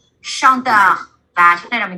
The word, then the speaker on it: chanteur: Chanteur. Và chữ này là mình đọc là gì?